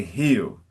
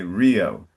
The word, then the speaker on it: Rio: We don't say hew. We say Rio.